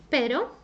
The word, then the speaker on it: pero: strong now let's see at the letter R when it sounds softly let's see some examples the first one I showed you was pero I can show you